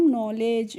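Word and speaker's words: knowledge: को पढ़ेंगे नो इसको कनो नहीं पढ़ते हैं क्या पढ़ते हैं नो पढ़ते हैं क्योंकि के के बाद जब भी एन आता है तो वहां पर हम के को नहीं पढ़ते यानी कि के साइलेंट रहती है तो इसको हमने पढ़ लिया नो और एली का क्या हो जाएगा ले और डी जी ई का हो जाएगा ज तो इसको पढ़ेंगे हम नॉलेज नॉलेज की हिंदी मीनिंग होती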